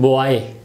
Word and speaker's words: boy: How do we pronounce it? Very simple, boy. O-A-A, boy.